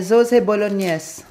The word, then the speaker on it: bolognese: Guys, ang tamang pagbigkas po pala ay sauce bolognese.